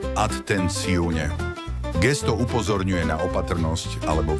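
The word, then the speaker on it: attenzione: Atenci, pozor, vyslovuje sa atenciune.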